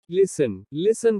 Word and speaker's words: listen: T is silent in certain words. कुछ शब्दों में T का उच्चारण नहीं होता। कैसल किला। लिसन सुनना।